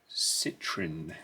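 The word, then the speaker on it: Citroën: renaults let's go to citrine as it's pronounced here but um because this is a french episode i should at least attempt citroen sm uh was this the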